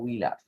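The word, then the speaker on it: Wöhler: কিন্তু এর কিছুদিন পর তার ছাত্র মিস্টার ফ্রেডরিক উইলার, জার্মান ভাষায় ডাব্লুর উচ্চারণ ভ হওয়ায় এখানে আমরা ভোলার লিখি, কিন্তু ইংরেজিতে উচ্চারণটা হলো উইলার।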